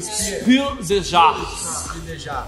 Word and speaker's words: Spiel des Jahres: Como é que é a pronúncia? Spiel des Jahres.